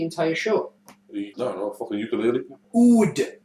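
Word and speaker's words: oud: Unfortunately, ood is the answer. It's spelled A-U-D.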